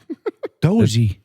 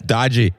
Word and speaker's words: Doge: it's dodgy. That the English came up with it. That's a dodgy coin.